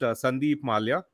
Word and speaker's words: Sandeep Mallya: even going to try but my name is pronounced Sandeep Malya uh yeah yeah I I almost did a